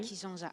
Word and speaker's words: Kijanja: Merci, Alors, à vous c'est Kijanja ou Kijanja, comme on doit prononcer? Kijanja.